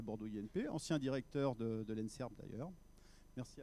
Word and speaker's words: ENSEIRB: Donc on ne change pas la prononciation, hein, l'ENSERB reste toujours l'ENSERB, mais sauf qu'il y a l'EI en plus qui permet de faire apparaître l'informatique, mais pas que.